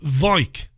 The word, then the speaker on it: Weik: They said Weik. It's spelled W-E-I-K.